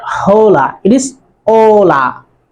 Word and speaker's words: hola: a is always silent it will never be pronounced so that's why it is hola not hola it is hola ola hi hello numero do number two numero uno